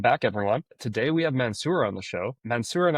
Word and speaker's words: Mansour: And I love how great you pronounce my name, Mansour. Usually usually it's not that easy. Some people might say Mansour or stuff like that, but we are very fluent in pronouncing it.